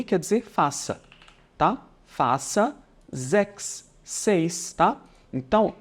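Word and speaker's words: sechs: dizer faça tá faça zex então 6 em alemão a gente diz sexo tá e a gente pronuncia assim Seria algo do tipo faça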